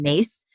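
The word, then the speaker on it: Myss: spiritual teacher named Carolyn mace um her last name is spelled m-y-s-s but it's pronounced Maze and she has her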